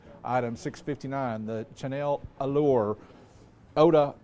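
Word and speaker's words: eau de: It is Chanel's Allure Oda Parfam.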